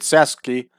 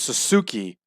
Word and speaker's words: Sasuke: to be the Great Sasuke. I always thought it was Suzuki, but I guess it's pronounced Sasuke.